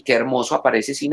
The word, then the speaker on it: hermoso: leemos fermoso ahora leemos hermoso cierto y muy seguramente en unos 40-50 años hermoso se escribe sin hache por ejemplo porque esa h que hace ahí esa h no dice nada entonces muy seguramente en